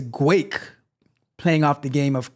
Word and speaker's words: Guake: have on the list is guake not guac like I I honestly thought you guys are going to laugh at me right I honestly thought it was like guac like playing off guacamole but it is guake playing off the game